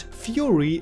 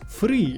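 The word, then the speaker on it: Furi: no by the way it's still not fury it's free it's a Japanese word so please use the Japanese pronunciation Jesus Christ anyway where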